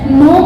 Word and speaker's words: know: देखो, अगर हम बात करते कुछ लेटर्स की, जैसे नो है, KNO, इसको क्या पढ़ा जाता है, नो पढ़ा जाता है, इसमें से के को साइलेंट कर दिया गया है।